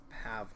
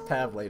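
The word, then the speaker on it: Pavle: don't there's nothing left pav like his name said pav but it's spelled pavl wait wait it's really pav that's how I've always thought it was no it's pavl to me now pavl let's dress what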